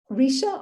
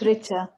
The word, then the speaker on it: Richa: Is it Risha or Richa? It's Richa. Okay, thank you for that.